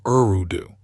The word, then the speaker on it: Eridu: And the first Sumerian city, Eridu, according to reconstructed Sumerian grammar, would have been pronounced very close to Urudu.